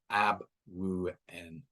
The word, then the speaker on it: Abwoon: So if it's written phonetically, it's ABW0 O-O-N, Abwoon.